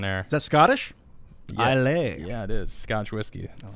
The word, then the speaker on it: Islay: Islay.